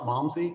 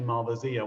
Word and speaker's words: Malvasia: Malmsey is an Englishman trying to say Malvasia. They loved the Malvasia wines from the Greek islands. And when they came to Madeira and started importing Madeira, they said, oh, this tastes like what that Greek stuff. What do they call it, Malmsey? No, it's actually Malvasia.